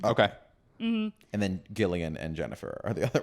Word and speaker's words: Gillian: From now on, we're going to refer to her as Gillian, if people don't mind. We're going to do it a hard G.